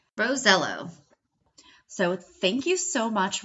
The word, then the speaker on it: Rosiello: He asked his Italian grandfather years ago. He confirmed it, Rosello.